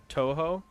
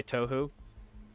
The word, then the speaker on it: Toho: It's pronounced more like Toho. What did I say? Tohu? Toho makes sense. Tohu's not that far off, given the letters that are in it.